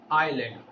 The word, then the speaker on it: island: S is here a silent letter.